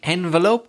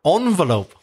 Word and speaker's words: envelope: Craig, envelope or envelope? Have you heard the other pronunciation? I have. Is that what you say? I usually do say envelope. I think both are accepted, aren't they? Envelope they are. Or envelope? Interesting. That sounds quite posh to me.